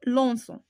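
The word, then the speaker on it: lançons: هاد سي سي دي هي اللي كنزيدو باش ما تبقاش تنطق لينا كا باش تنطق لينا نو لونسون.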